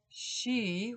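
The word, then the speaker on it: Sidhe: a name applied to the dark L's the she which is spelled s d h they're Irish the she are fairies in Ireland late elves were very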